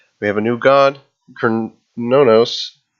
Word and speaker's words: Cernunnos: have a new God Kern no no I believe that's how they were pronouncing it in the patch notes video lee horn god he